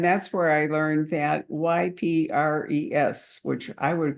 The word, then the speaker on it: Ypres: I think Ypres in Belgium, isn't it? It is. And Wipers was the joke. That was the soldiers' pronunciation.